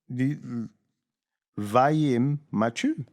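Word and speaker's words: vayimmachu: Have you got the pronunciation? Vim machu.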